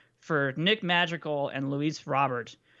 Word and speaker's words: Robert: Nick Madrigal and Luis Robert, who I believe is now pronounced Robert, supposedly, from TJ's stream.